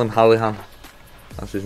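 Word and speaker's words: O'Halloran: that means fastest player would be Michael halahan his that's how you say his name Michel halahan I call him I call him halahan that's his name but um yeah he's rapid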